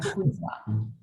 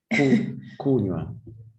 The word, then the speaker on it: kunywa: Like it's a 2 syllable. 2 syllable. Ku and nywa. Nywa. The W. Yeah, nywa. Yeah. If you say kunywa, means you have put 3 syllables there. Yes. I think I overemphasized the W in case you missed it, because it means something else.